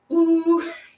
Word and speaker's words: OOH: I want to call it OOH, which stands for Opera of Our Own, but you have to say it like that. You have to go, ooh.